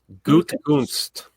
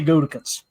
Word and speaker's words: Gutekunst: Gutekunst.